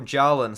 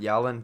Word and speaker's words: Jalen: from yawan um for Jalen sorry not yelling Jalen or Jalen Turner sorry I keep saying his name wrong but Jalen turned I